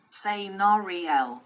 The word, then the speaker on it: Senariel: Senariel, pronounced. Say Nariel, she who sings across water, primary role.